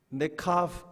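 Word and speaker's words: נקבה: 근데 여자는 뭐라고 읽을까요? 네카브 이렇게 읽어요.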